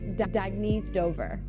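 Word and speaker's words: Dagne Dover: good you can live life intentionally oh it's pronounced Dagny Dover Dagny means new dawn it's a new dawn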